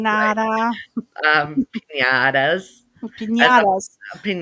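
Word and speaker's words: piñata: Pinatas. As Pinatas. Pin- pinatas.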